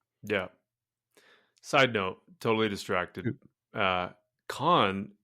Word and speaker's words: Cannes: Con, how do you say con? When you look it up in Google, it says K-A-N. Sounds like K-A-N. K-A-N. Can?